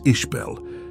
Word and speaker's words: Isabella: important to note that a native Gaelic speaker might pronounce Isabella as ishbel as you know these